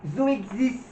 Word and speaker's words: Zoexis: Et donc ça se prononce Zo Zoexis.